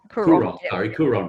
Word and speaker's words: Coorong: went down to the Kuyon, is that the Kuyon region? Is that how you say it? What's that region? Is that the Meningie region? Is that the Coorong? Coorong region.